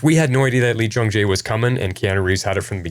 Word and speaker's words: Lee Jung-jae: Lee Jung-jae. Lee Jung-jae.